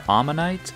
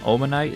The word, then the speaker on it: Omanyte: These Pokémon are Omanyte and Omastar. But I've always called them Omanite and Omastar, which is only slightly different, but still incorrect, I suppose.